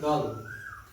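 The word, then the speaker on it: girl: गर्ल नहीं गर्ल इसमें जो र है वो साइलेंट रहता है आर साइलेंट रहता है क्या बोलना है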